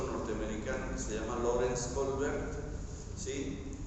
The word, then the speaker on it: Kohlberg: se le dice etapas de desarrollo moral de Colbert, ¿sí? Si después lo quieren buscar, se escribe K-O-H-L-B de burro, E-R-G de gato, Colbert, ¿sí? Entonces es K-O-L-H, ¿sí? B de burro, U-E-R-G, Colbert, ¿sí?